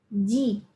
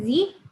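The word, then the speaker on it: じ: Tapi cara bacanya adalah ji. Jadi dari shi ke ji. Diingat ya, bukan zi tapi ji.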